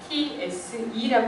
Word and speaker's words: FTSE: 그리고 영국이 FTSE라고 해서 FTSE라고 하고 프랑스는 까크 지수라고 읽어요.